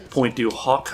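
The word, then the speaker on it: Pointe du Hoc: I personally like Point du Hoc, I believe it's pronounced, which has a big trench in the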